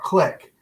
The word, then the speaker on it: Qlik: are a elite level partner of click click is spelled q-l-i-k click's been around for